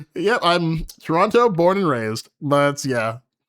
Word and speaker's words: Toronto: You're not from Toronto. You're still pronouncing the T the second T. H I'm not I'm not calling it Toronto. Yep. I'm Toronto, born and raised, but yeah.